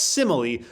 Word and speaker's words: simile: No, it's not smile, it's simile, which just means similar.